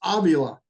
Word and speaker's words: Avila: It's Avila.